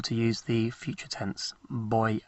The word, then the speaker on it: voy: By the way, a V in Spanish is pronounced as a B. So it's not voy, but voy. Voy. Voy a.